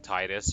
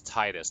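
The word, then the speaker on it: Tidus: I'm still a little bit salty about um the the the canon pronunciation of um of Titus from Final Fantasy 10 because like I always felt like it was Titus like cuz it was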